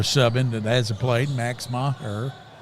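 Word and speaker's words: Meagher: He puts another sub in that hasn't played, Max Maher. I think that's right, Coach. It's spelled M-E-A-G-H-E-R.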